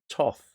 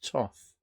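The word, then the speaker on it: Thoth: Crowley deck also known as the Tov thick pronounced Tov although it's written th oth it's Tov a lovely beautiful deck and beautiful cardstock and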